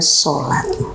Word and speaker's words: salat: Kalau bahasa Jawa menuliskannya biasanya salat, karena sa itu dibacanya so sebagai suku kata terbuka kan. Nah, salat itu bahasa Jawa. Ya, SALAT ya, salat dibacanya sholat.